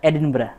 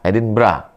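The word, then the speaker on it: Edinburgh: Ditulisnya Edinbur. Tulisannya Edenbur. Cara bacanya Edinbra. Edinbra.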